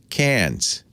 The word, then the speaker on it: Cairns: We went down to Cairns, as they pronounce it, got on a cruise ship with the Astronomy magazine.